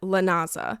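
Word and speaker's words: Lughnasa: Hine imel bolane and Lena which is spelled like lasagna l u g h n a s a that kind of looks like lasagna there's a siren going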